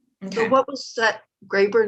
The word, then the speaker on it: Graeber: So the book that we were just talking about was Debt by David Graeber. Garber, how do you say his name? Graeber. Graeber, thank you, Graeber.